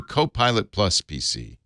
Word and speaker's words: Copilot+ PC: Why don't we start at the beginning with Monday's Surface announcements and this new Copilot Plus PC.